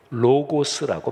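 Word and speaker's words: λόγος: 헬라어 원문으로 보면 섬김, 아까 제가 디아코니아 이렇게 말씀드렸는데 말씀은 헬라어로 로고스라고 발음합니다.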